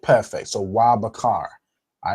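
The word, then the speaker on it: ובחר: Wa Bakar. Wa, right? Perfect. So Wa Bakar.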